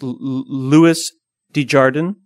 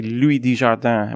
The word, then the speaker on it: Louis Desjardins: I think it's Louis Desjardins. Louis Desjardins. But I always pronounce it like he's French, and I say Louis Desjardins, which is totally wrong, because I think he's from like the Midwest somewhere.